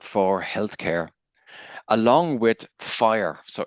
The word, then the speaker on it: FHIR: healthc care along with fire so fhir is pronounced fire which is like kind